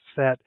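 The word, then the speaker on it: Sète: set so that's se but it's pronounced set and that's essentially on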